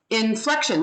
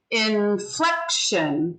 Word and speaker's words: inflection: this induction inflection representation so it's three syllables infection inflation and there's an accent on one of the syllables so listen in flexion where's the accent inflection f yeah the second syllable yeah so n is the first syllable flec is the second syllable and shun is the third syllable so inflection inflection so the second syllable gets the accent and it's ironic because